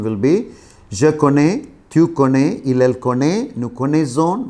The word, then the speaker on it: connais: See, je connais, the S is not pronounced, tu connais, il, elle connaît, the same pronunciation we have.